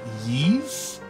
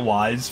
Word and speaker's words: Ys: yeah I think it's it's I know it's pronounced Eve or or ease but I don't know I've been pronouncing it wise for many years um really bad had